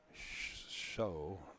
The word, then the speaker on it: Shu: I'm in trouble now Richie shu is pronounced show not Shu he's a dear friend